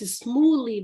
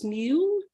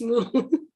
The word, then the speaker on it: Smule: use the app Smule, which I thought was Smooly before, but then I found out that it looks like the correct pronunciation is Smule, but my mind is Smooly, but it's Smule.